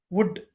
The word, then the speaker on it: would: Would. Close it. Not would. L is a silent here. Please pronounce as a would.